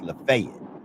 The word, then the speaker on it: Lafayette: where I come from Lafayette is pronounced lafay so so if you